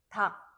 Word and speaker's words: 닭: 그래서 발음할 때는 닭.